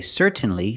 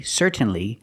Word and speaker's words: certainly: common pronunciation certainly certainly what happened to the T well you can pronounce the T and you can say certainly certainly but it sounds more natural in American English if I change the T I make a stop T C I put my